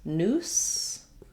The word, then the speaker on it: noose: might write it like this noose with two s's that's typically a s sound and then news with